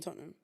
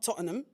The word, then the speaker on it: Tottenham: I grew up in Tottenham.